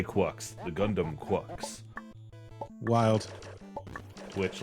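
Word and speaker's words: GQuuuuuuX: How do they say? Is it GUX? Yeah, they say Quucks.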